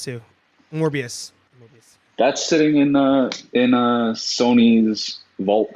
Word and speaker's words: Morbius: I'm sorry, I can't pronounce it. Shang-Chi. Thank you. I can't wait for that movie. Mm-hmm. Whatever happened to Mobius too? Morbius.